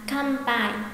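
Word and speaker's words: かんぱい: Không đọc là can mà sẽ là Kanpai, Kanpai.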